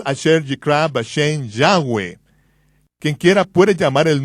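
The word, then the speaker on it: Yahweh: yo pronuncio su nombre yahwe josefo dijo que había cuatro vocales sobre la mitra del sumo sacerdote yot he B que son pronunciadas como vocales en un solo respiro yahwe yahwe en la literatura griega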